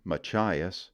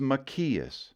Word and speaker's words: Machias: My favorite mispronunciation of our next word, Machias, is Machias.